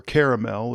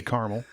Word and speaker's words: caramel: apple dipped in caramel, or caramel as it's supposed to be pronounced. If you're from the Midwest, You say caramel. Yeah, exactly. I do. But there's another A in there, kids.